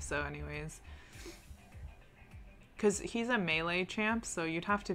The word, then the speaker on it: melee: case yeah and then to the baron pit mealy no it's actually melee i googled this because i always pronounced it as uh what should i call it malay and that's that's the language in malaysia and